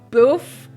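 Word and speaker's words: bœuf: pronunciation she called it the French word for beef which is boof I'm so sorry b o e u f um anyway the judges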